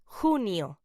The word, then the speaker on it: junio: June in Spanish is pronounced junio.